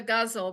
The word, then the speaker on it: ghazal: But in English and according to the poetry foundation and several other authors that I read, it rhymes with muzzle.